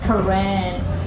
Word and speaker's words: Karen: So I have to spell it out like K A R E N Karen but we pronounce Karan.